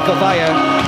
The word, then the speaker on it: Zozaya: that's how you say it by the way, Zozaya, what's right, Zozaya won the match last week,